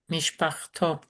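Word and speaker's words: מִשְׁפַּחְתּוֹ: Mishpachto. What? You mean to tell me that mishpacha, which has a kamate mater letter at the end, becomes mishpach To.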